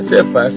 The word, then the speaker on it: Cefas: Cefas, para nosotros, hermanitos, así se pronuncia Cefas, en hebreo Kefa, y empieza con K.